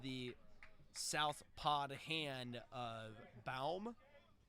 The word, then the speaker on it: Baum: 79 off of the south pod hand of Baum. I hope I am pronouncing that right. It could be Bohm, but I'm assuming B-A Bow. Baum. B-A-U Bow. Like lip balm?